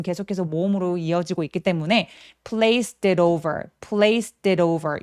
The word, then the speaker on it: placed: And placed it 할 때 and의 뒤소리는 잘 안 내고요. placed it. 자, place 얘 소리 s 소리로 끝났죠? 성대가 울리지 않으니까 얘도 마찬가지로 그래서 place라고 트리로 내 주셔야 됩니다.